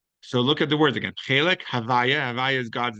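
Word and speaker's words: הוי״ה: Since this name is too sacred to pronounce, it is denoted by saying the word in inverse, which is Havaya.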